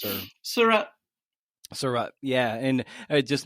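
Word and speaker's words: Sarraute: Surratt, is that how do you pronounce her? Surratt.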